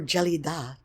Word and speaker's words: Gelida: Punxsutawney Phil ain't got nothing on Gelida, or Gelida, to say her name correctly.